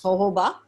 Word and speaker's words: jojoba: oil is the best it's spelled with j it's pronounced as jojoba yeah it's one of